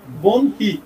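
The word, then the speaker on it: বহ্নি: বনহি বন বন হয় বন বনহি সঠিক উচ্চারণ বন বনহি বনহি বনহি মানে আগুন শিখা মানে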